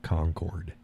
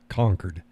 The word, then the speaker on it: Concord: when they talk about when they pronounce the state capital of New Hampshire it's not Concord spelled Concord it's not Concord it's conquered H Jacqueline says makes